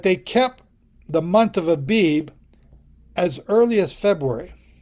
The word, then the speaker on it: Abib: So, there's how you pronounce it. Abib.